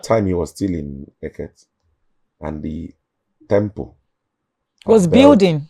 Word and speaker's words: Eket: So by the time, not even in Uyo, in Eket, Eket, that's how it's been pronounced, in Eket.